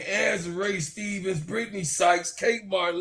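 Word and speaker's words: Azurá: Just saying, no matter how many times you correct him, Tony just said Azuri name. Azure. Yeah. Azure. I'm country. I get it right. Azure Stevens.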